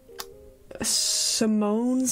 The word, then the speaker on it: Simone: We have been, I think a lot of us have been pronouncing Simone's name wrong. It's actually Simone.